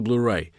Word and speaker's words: Blu-ray: pensar no blu-ray exato É assim mesmo se pronuncia blu-ray efetivamente o blu-ray no âmbito da alta definição